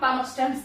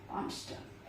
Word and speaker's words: Palmerston: तो आप कहेंगे कि विस्काउंट पामस्टन थे। कौन थे? विस्काउंट पामस्टन, palm PARL, palm stern, पामस्टन।